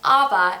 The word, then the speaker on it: Aviva: With the AVIVA pronunciation, it is an English form of the name Eve, which means life, or pronounced Ava, it is a Persian name that means voice.